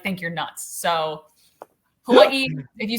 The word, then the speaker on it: Hawaii: say it that way hawaii or hawaii you can say the v that's a very hawaiian thing to do i don't do it because i'm not hawaiian but hawaii is technically how you say it i say hawaii